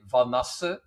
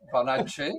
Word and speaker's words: Vanassche: First of all, Gotam, uh, thanks for pronouncing my name so nicely because in Dutch you say Vanasa, but you pronounce it like in a very Italian way, Vanache, which sounds like very with a with a flare.